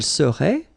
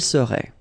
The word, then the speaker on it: serait: seriez, il serait, elle serait. Okay, so we'll see that one more time. Je serais, same thing here, final S not pronounced. Tu serais, final S not pronounced. Il serait, final T not pronounced.